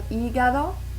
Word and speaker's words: hígado: El hígado, so H is silent.